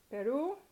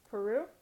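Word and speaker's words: Perú: Another one is Peru, Peru, Peru. Because it ends in a vowel, and that vowel is stressed, you have to put a written accent on it for it to be correct.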